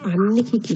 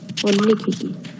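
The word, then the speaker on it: আন্বীক্ষিকী: আরে এটা হচ্ছে আন্নিক্ষিকি নয়, এটা হচ্ছে পরিষ্কার বলে বানান করে বল, অন্নিক্ষিকি।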